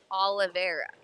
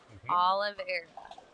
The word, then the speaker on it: Oliveira: Oh, and okay, so here's Ariana Oliveira, is how you say that. Oliveira.